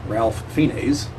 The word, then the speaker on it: Ralph Fiennes: Back if you would go watch the ads for that, where they pronounce his name Ralph Fiennes. I have no idea how you get Ray from R-A-L-P-H, but apparently that's just how you pronounce his name.